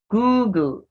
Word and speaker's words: Google: Google. Google. It's with the oo sound. The one with the one O is Google, while this with the two O's is Google.